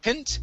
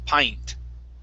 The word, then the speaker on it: pint: right here instead of pint it's a long i sound i pi pint mind good nice job